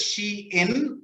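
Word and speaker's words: Shein: maybe maybe chain or something right yeah it's pronounced as she in and so it's a contracted version of she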